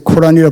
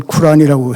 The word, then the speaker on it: 쿠란: 쿠란에 뭐 우리가 보통 코란이라 부르지만 사실 발음은 쿨이라고 해야 한다고 하는데에 보면 빛의장이라고 한 장이 있습니다.